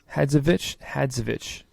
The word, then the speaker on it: Hadzovic: Hadzovic.